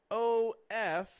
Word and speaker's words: of: goes to say that o f in spelling does not make an off sound o f f sounds like off off o f uh of our tongue is a little lower in the mouth it's a little lazier of a vowel and we're adding voice to that F we're not just making making a f but a v of one of a